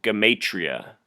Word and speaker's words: gematria: type in how to gematria and gematria is geem like Jim 80 RIAA and I've been told it can also be pronounced gamay tria but anyhow that's how